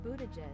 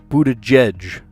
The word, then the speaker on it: Buttigieg: How do you pronounce that? Let me look it up. Okay, let's hear it. Pete Buttigieg. Buttigieg. Okay, J-E-J. Pete Buttigieg.